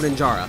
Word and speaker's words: Ninjara: How do you pronounce his name? Ninja. Oh, Ninjara.